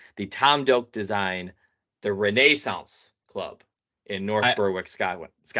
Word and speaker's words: Renaissance: You need a little more horse in there. Renaissance Club. Like the guys that introduced Ricky Fowler at the first tee of the British Open.